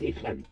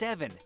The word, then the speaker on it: Evan: You think they'll fall for that, Ethan? Evan! It's pronounced Evan.